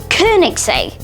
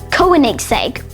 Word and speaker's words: Koenigsegg: This Swedish sports car company is pronounced Koenigsegg instead of Koenigsegg or Koenigsegg.